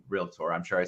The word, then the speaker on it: Realtor: tour uh but it's so funny when you listen to a real tour say it incorrectly it just cracks me up uh so I'm glad you brought that up I'm glad you tour two syllables real Tor uh so wal I